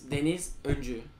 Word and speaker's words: Deniz: you're survey Andrew my name also name is Denise so it's a bit complicated to tell so